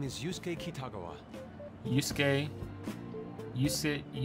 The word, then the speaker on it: Yusuke: is yusuke kitagawa yusuke yusi yusuke so just the way i pronounce things just ignore the second you so you skate like